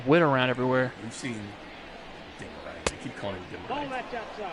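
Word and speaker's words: Demeritte: Is it Demerits? No, Demerit. No, it's not that. It's Demerit.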